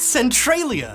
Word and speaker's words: Centralia: It's actually pronounced Centralia!